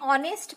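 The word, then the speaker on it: honest: एन आर, एन ऑनेस्ट मैन, हम यहाँ पे देखें तो देखिए स्टार्ट एच से हो रहा है, लेकिन यहाँ पे एच का प्रोनाउंसिएशन नहीं आ रहा, ह नहीं आ रहा है।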